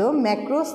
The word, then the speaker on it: makros: ম্যাক্রোস দুটো উচ্চারণে একই রকম হলেও বানানগত দিক থেকে এদের পার্থক্য রয়েছে।